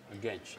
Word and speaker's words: Genç: Okay, how do you pronounce the last name, bro? Genç.